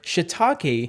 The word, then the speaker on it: Shiitake: I want to clarify, I could say Shiitake and get a really nice Japanese pronunciation, but just for the sake of this video, we'll stick to Shiitake, okay?